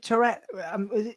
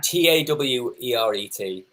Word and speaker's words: Taweret: Was it Tourette? Is it pronounced? It's Taweret.